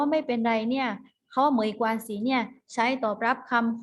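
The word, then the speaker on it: 没关系: ไม่ เป็น ไร นะ คะ ออก เสียง ว่า ไหม กว่า สิ ไหม กวาง สิ เขา ว่า ไม่ เป็น ไร เนี่ย เขา ไหม กว่า สี เนี่ย ใช้ ตอบ รับ คำ ขอ โทษ นะ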